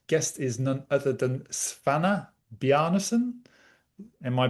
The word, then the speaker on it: Svana Bjarnason: is none other than Svana Bjarnason. Am I pronouncing that correct? Yeah, almost. It's Svana Bjarnason. So yeah, Svana close. Bjarnason.